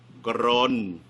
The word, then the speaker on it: กรณฑ์: เป็น ภาษา ไทย เนี่ย อ่าน ว่า กรน หนัง grown นะ